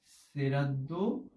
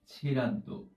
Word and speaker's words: শ্রাদ্ধ: মূলত শ্রাদ্ধকে বোঝায় এবং এটিকে আমরা অনেক সময় শ্রাদ্ধ বা ছেড়াদ্দ দুইটাই বলে থাকি। সুতরাং তুমি যেটাই উচ্চারণ করো সাধারণত কোনোটিতেই ভুল নেই বলেই আমরা সবসময় দেখে এসেছি।